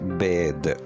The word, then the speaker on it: bathe: तो स्टार्ट करते हैं हम अपने पहले लफ्ज़ से जो कि है बैद, BATHE, बैद।